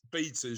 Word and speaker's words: beta: The British pronunciation of beta is phonetically done B-E-E-T-U-H.